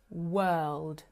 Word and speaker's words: world: It should be word, world, work. With this vowel sound, I want you to imagine that you are disgusted by something.